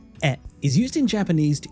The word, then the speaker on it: へ: So this e particle, written as he but pronounced as e, is used in Japanese to indicate direction or even destination.